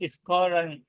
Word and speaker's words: scouring: Directly स्कोरिंग नहीं है वो, इसको एक हम प्रोनाउंसिएशन देख लेते हैं। तो स्कोरिंग, Scouring.